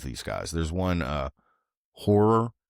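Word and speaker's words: HO99O9: There's one uh horror is the name of the band, but it's spelled HO9909.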